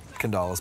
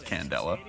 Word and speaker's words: Candela: Candalas, by the way. You pronounce that so awkwardly. What? Candalas? Well, it's not an A after the D, right? It's an E. It's Candela.